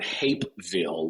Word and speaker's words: Hapeville: what so my wife and I are in Hapeville okay ha a p e and I have to spell it because Norm normally people hear like you're